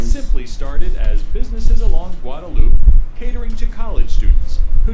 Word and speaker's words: Guadalupe: The stretch of roadway known as the drag is the portion of Guadalupe Street that extends, strictly It's pronounced speaking, Guadalupe.